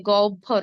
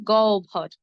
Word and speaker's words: গহ্বর: একইভাবে গহ্বর নয়, কি হবে? গহ্বর, গহ্বর।